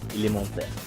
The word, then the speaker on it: Elementaires: There we go, Elementaires.